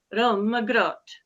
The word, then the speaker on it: Rømmegrøt: There's a variety of ways of pronouncing that, or that people do pronounce that, but I just learned from Rachel that it's Rømmegrøt. So we have kind of a combination of ways of saying that.